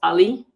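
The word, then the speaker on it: a11y: it's 11 letters in between so it's usually pronounced ali uh because the ones look like else uh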